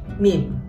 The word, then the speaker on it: meme: Meme. Bahasa Inggrisnya bacanya meme. Meme aja, oke.